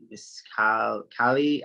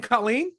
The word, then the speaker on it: Colleen: uh like miss uh cali sorry i got your name wrong i'm so sorry miss cali is it cali you mean colleen colleen i'm so sorry you're